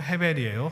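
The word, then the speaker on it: הֶבֶל: 하는 그 아벨의 인생이 우리가 사실은 이게 아이라고 발음하지만 실제로 아벨의 히브리어 원래 이름은 헤벨이에요 똑같은 똑같은 단어입니다 자이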